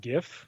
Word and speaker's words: GIF: a this is a gift gif thing that i don't want to get into oh jesus jib now i've always said gib by the way jake you said jiff i think you meant gif peanut butter yeah apparently